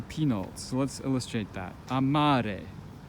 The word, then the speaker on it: amare: Amare, right? You see, the stress is falling on the second to last syllable. Amare.